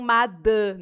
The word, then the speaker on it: madame: E não madame. Não é dame, é da. Madame.